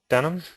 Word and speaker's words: Denham: Denham? Yes, that's right, Denham. Yeah, that's Okay. how you pronounce it, just like the jeans.